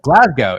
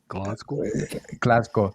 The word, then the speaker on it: Glasgow: Glasgow, if you're in that area. Did I say it right? Yeah. Okay. Glasgow.